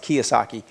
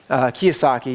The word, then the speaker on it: Kiyosaki: It's a book by Richard, it's spelled like Kawasaki, but I think it's pronounced Kiyosaki. Kiyosaki, yeah.